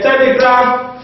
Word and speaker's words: telegraph: in this way what like a telegraph photograph paragraph and radiograph we stress the first syllable we stress the first